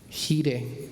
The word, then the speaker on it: Gire: Un pastor llamado Ken Gire, así se pronuncia su apellido en español, Ken Gire, lo pone de esta